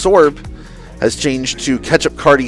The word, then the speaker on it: Swurb: And then Swurb pronounced Sorb has changed to Ketchup Cardi 67.